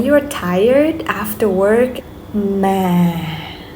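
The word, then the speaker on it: má: Ma. Now rising. Ma. Ma. Okay, go up is like you're making question.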